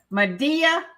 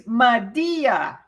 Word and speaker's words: Madea: perfect or I keep saying get a hundred Medea oh it's Madea not Madea Madea I call her Madea so